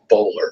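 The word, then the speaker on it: Boulware: the name of Barrett bowler now it's spelled uh bware but in South Carolina where we pronounce everything a little crazy it's pronounced bowler but this is a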